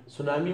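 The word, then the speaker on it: tsunami: सुनामी का में सुनामी ऐसे लिखते हैं, सुनामी में टी और पी साइलेंट है, पढ़ते नहीं है, लिखते हैं।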